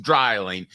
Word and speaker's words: Dreiling: at the same time it's pronounced drying but how do they